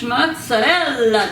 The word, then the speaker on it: mozzarella: one slice oopsie of the fresh mozzarella cheese that's how you say it in Italian cheese so fresh